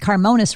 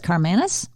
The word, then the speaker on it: Carmanis: I think I pronounced Carmonas wrong. You said it's Carmanis? Carmanis, that's correct.